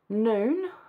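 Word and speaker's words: Nun: seventh day um joshua the son of noon that's how it's pronounced um called the priest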